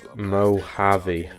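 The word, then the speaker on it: Mojave: noise this a mo JV is pronounced moav it's the MAV desert you're pretty bored right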